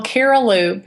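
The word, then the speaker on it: Cariloop: a little bit more about that sure well caral loop it's spelled c a r i l o o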